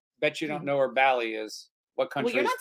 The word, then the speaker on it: Bali: so a drink of the week comes from balet that's right Randy from balet bet you don't know where Bal is what country saying it right anyway Bali Bali